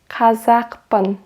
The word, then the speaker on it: қазақпын: Мен қазақпын. Мен, I, Kazakh, You know, I pronounce it with k.